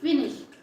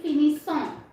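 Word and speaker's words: finissent: What we will pronounce? Il finish. We never pronounce il finissant. So lots of people do mistake because of isson, but we pronounce il finish, elle finish. Okay, we don't pronounce il finissant, elle finissant. We pronounce always il finish and elle finish.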